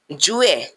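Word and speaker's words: juillet: June another one इज जुए जुए जुए इन द वर्ल्ड वर्ड जुए द टू एल आर साइलेंट in English is July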